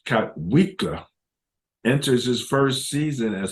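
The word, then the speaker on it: Kotwica: Special teams coach Ben Katwika, pronounced Katwika, enters his first season as special teams coordinator for the Broncos.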